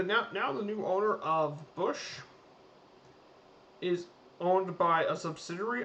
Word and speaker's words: Busch: about the bush family it's actually it's spelled um it's book it's bush it's german but the bush family